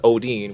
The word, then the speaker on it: Odin: of many stories of Mr Odin which by the way is the correct pronunciation uh but he can